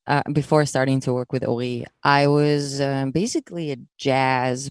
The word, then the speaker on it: Ori: How did your musical identity change when you met Ori and you started working together? I'm not even trying to say his name in Hebrew, by the way. So I'm just straight soft American R for him.